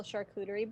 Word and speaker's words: charcuterie: And she just like starts slicing it off and making like a beautiful charcuterie board for everyone. Oh. Oh. Well done. That sounds yummy. Good pronunciation of charcuterie.